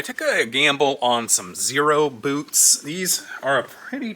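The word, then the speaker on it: Xero: and uh finally did so it's this uh zero which is spelled x e r o w i it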